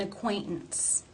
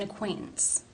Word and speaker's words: acquaintance: how do you pronounce the t's in this sentence the first t it's followed by the schwa and N sounds therefore it is a stop an acquaintance an acquaint hmm it's an acquaintance and the next t